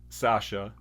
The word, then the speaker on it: Sasa: And if you say it the way that it's spelled, you're not saying my name correctly. So here's what I did. I put in parentheses Sasha with an H.